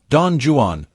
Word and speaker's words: Don Juan: Byron, however, was an Englishman who deliberately wanted his writing to be pronounced as Don Juan, emphasizing the Jew, regardless of how wrong it may be.